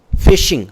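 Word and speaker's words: phishing: Fishing. Fishing. You know, email fishing. It's phonetically pronounced the same, spelled different.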